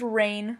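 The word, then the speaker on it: RAINN: It's pronounced rain with 2 N's, .org.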